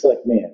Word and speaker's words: Selectman: I'm trying to pronounce the A, not the E. It's Selectman.